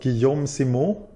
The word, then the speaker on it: Guillaume Simon: Namnet i franskt uttalas Guillaume Simon. Guillaume Simon. Guillaume Simon. Mm. Där den andra året är lite lätt nasal.